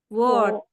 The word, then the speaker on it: world: Kalau yang British, R-nya buang, coba. Jadinya gimana? World. World. Good. It's gonna be world, ya kan?